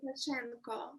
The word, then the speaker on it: Lukashenko: Alexander Lukashenko.